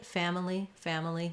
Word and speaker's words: family: Often, native speakers will say this almost just like family. They won't really have much for that I or sound in the middle. So you can say family. It's okay to do 3 syllables, but you just want to be really reduced and not spend much time on that middle syllable.